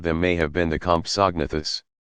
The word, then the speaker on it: Compsognathus: The smallest of them may have been the Compsognathus, pronounced Compsahgnathus, which was only about as big as a chicken.